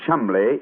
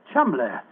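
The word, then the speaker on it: Cholmondeley: Being an American, he had no reason to know that the name Chumbllay is in no way pronounced the way it is spelled. Joe, I never thought of that. Chumbllay.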